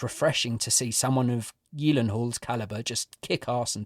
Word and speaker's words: Gyllenhaal: Jake's second name and it is apparently Yen Hall yes and for years like most of us I've been calling him Gyllenhaal or Gillen Hall so there's a fun